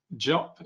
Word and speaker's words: Jop: Jop, is it Jop? Am I pronouncing that right? Yes. Yep. Awesome.